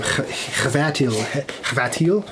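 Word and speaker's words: Chvátil: Again, I think I looked up how to pronounce his name, and I think it's again the sound at the beginning of his last name. Hvatil.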